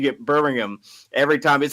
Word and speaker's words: Birmingham: No, that's pretty much how it's pronounced. It's Birmingham.